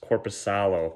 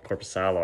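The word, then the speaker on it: Korpisalo: friend rust oh no i always forget jonas corpus sallo corposalo i'm pretty sure that's right actually yeah i always get his name wrong eric gustafson which i'm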